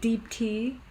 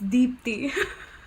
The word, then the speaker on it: Deepti: Yeah, during and the it's process of this and the way you pronounce it is like, it's not like deep tea, No, it's Deepti. Yeah, If you can get that sound out of your mouth.